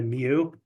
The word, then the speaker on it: mu: symbol or you just I usually just spell it mu pronounce Mew I would just spell it oh yeah Meo not not like a cat meowing Mew Mew it is pronounced Mew but I just I